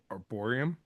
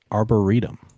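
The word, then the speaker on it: arboretum: It's actually I I Googled it because I wanted to make sure my pronunciation. It's arboritum. Arborum. Oh, arboritum. Yes, arboritum. Oh, yeah. I there's a T in there.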